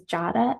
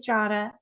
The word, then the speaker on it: Jada: to remind people that my name is Jada and it rhymes with Prada. So I people would I'm like you have a 50-50 chance. It's either Jada or Jada. It is Jada like Prada.